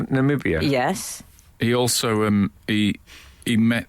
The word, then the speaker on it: Namibia: He misspoke with Nambia as well, didn't he? Instead of Namibia.